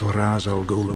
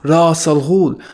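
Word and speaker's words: Ra's al Ghul: of Ras Al Ghul, not Ras Al Ghul, or Resh Al Ghul. It's Ras Al Ghul. That's the proper pronunciation in Arabic, and whenever Batman calls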